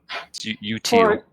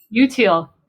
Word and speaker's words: Utile: Matthew and Jessy, please feel free to correct my pronunciation of Utile if I'm getting it incorrect. Utile. Utile.